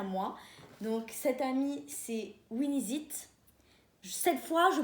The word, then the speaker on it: Winixit: Donc cette amie, c'est Winizit. Cette fois, je prononce bien parce que j'avais fait une story